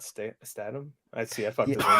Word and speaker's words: Statham: You know, I say Stamos, but not Statham.